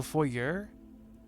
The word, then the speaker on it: foyer: So foyer is how Americans say it. Foyer is how Canadians say it. Canadians in England say it. It's closer to the French pronunciation.